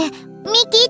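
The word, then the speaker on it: 未来: 未来って書いて、ミキって読むって。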